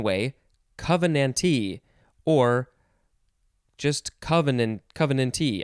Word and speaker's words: covenantee: covenante or just covenant covenantee i think the t is always emphasized because it is a